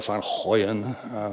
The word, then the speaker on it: van Goyen: So this is a lovely landscape by Jan van Goyen, or van Goyen, as they say in Holland, which I've tried pronouncing